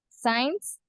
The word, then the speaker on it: science: You don't pronounce the C letter in this case. S science and scissors.